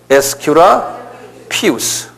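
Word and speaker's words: Aesculapius: US 큐라스 sqa 우스 aes cuu L pus 한번 발음해 보세요 에스큐라 피우스 이게 아메 의술의 신이라는 소리예요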